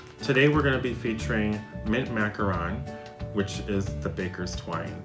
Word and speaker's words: macaron: the number below today we're gonna be featuring mint macaron which is the Baker's twine in this set it is called mint macaron and not mint macaron although it does look like a macaron I've